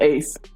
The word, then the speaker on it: Ace: Um, I keep saying Ice. I guess it's pronounced Ace.